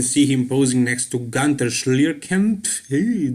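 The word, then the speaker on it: Günter Schlierkamp: him posing next to gunter schlierken that is how you pronounce his german name but yeah gunther was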